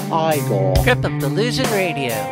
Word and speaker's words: Igor: on no it's pronounced Frankenstein you must be eigor now it's pronounced iore GP of the losing radio put the candle